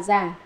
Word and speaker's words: cổ: Chữ cổ vốn đọc là giả, nhưng mà ở đây đọc là cổ, chính là người bán.